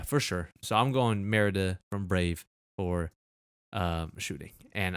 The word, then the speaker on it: Merida: Merida.